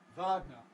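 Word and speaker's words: Wagner: explicit open schw symbol so there it is Vagner Vagner pronounced in English of course with the Russian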